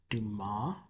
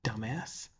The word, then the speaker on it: Dumas: President Not Sure says it's pronounced Dumas, not dumbass.